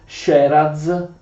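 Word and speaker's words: Sieradz: Possedeva Ladislao i principati di Sheraz e Uenteza, che anche se si scrivono in questo modo si pronunciano Sheraz e Uenteza.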